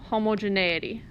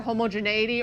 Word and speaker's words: homogeneity: a chi-square test for homogeneity. You'll hear it pronounced either homogeneity or homogeneity. They're the same.